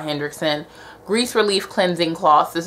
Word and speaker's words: Henriksen: got were the oola henriksen i've been saying it wrong the whole time it's oola hendrickson grease relief cleansing cloth